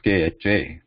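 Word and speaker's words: ख: write the transliteration scheme symbol is kha the the consonant part being KH cut sound and a is added for the ease of pronunciation there and also the curve the the position is throat where the air is blocked actually block is complete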